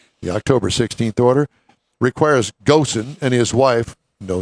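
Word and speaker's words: Ghosn: strike remember Carlos well I called him Goen I think it's pronounced go remember him yeah how's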